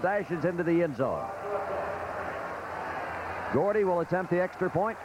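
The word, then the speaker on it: Guardi: the goal line with Gordy spelled gu a r di pronounced Gordy kicking off and here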